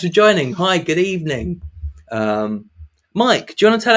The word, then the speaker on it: Miek: My name is Mike, which is pronounced Mike or Miek, not Meek, which everyone incorrectly pronounces.